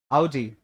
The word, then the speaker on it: Audi: Audi. Audi नहीं, ओडी तो बिल्कुल नहीं, ठीक है? Audi.